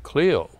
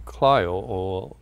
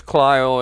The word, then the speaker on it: Clio: often the people would say oh you're from cland and I says no we're from clo they would apologize for pronouncing it incorrectly but uhu uh I come